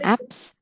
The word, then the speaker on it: abs: Không, mình không đọc là ABS. ABS, mình đọc là apps.